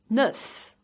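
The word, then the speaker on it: neuf: so wait again read nuff pronounced with final earth and push lips forward love love these say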